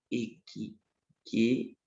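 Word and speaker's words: ἐκκέχυται: Equiquetai. Só para você pronunciar. Equiquetai.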